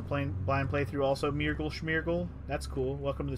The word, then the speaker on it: Smeargle: to smash that other why would your name be myrtle schmerkl that's not how you say the name smeargle why would you spell